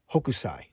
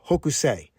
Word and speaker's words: Hokusai: Upon further research, it looks like the correct pronunciation for the Japanese artist is Hokusai. Hokusai. I was saying Hokusai.